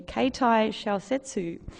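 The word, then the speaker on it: 携帯小説: They're known, I'm going to give myself a Japanese pronunciation here, Keitai Shousetsu.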